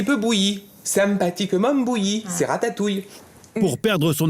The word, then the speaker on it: ratatouille: In English, we say ratatouille. At first glance, it would seem that the stressed syllable is the first one, rat, as to say rat, ratatouille.